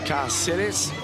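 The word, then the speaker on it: Cáceres: This is Carceres. We got some instruction a little with the Argentinian translator yesterday. That macron above the letters means the stress is on that letter.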